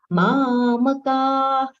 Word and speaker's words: मामकाः: See the middle letter ma. It should not be mam. It should be mamaka.